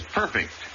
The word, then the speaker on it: perfect: hours in tedious toil the word is perfect accent on the first syllable always whether an adjective or a transitive verb eight the chief justice